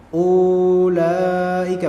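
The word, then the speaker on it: أُولَٰئِكَ: ini bukan mads Lang berarti bacanya bukan ulaika bukan Ula enggak tapi langsung Ula Ula Ul Ula ulaika ulaika seperti itu maka jangan hiraukan keberadaan wau di sini ya wau di sini wau yang dia tertulis namun tidak sama sekali digunakan dalam pembaca nah sehingga tidak melahirkan adanya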